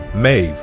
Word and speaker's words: Meadhbh: spellings of her name however the pronunciation is the same mave this is generally believed